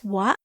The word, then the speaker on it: は: Particle wa, pronounced as wa, is used to mark the topic of the sentence or that which or who is being talked about.